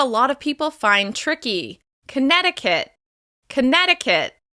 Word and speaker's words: Connecticut: Connecticut. Connecticut. As you can hear, Connecticut is stressed on the second syllable.